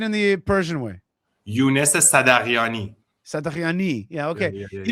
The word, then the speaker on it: Sadaghiani: Sadaghiani. Sadaghiani. Yeah. Sadaghiani. Well, in Farsi, it's actually Sadaghiani, but we don't have the sound in English, so the H is silent, basically.